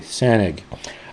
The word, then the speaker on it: Sanaig: And it's spelled S A N A I G. SanG.